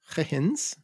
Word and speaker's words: Huygens: to these early gravity-driven clocks, improvements like Christian Huygens or Huygens, to give the correct... To attempt the correct to attempt pronunciation the of correct the Dutch name.